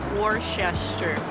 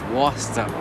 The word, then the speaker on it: Worcester: how do I know that how do you pronounce it Worchester I hated this war war war sister Worchester the German like what is that Worcester Worcester Worcester yes Worcester Wow you got to be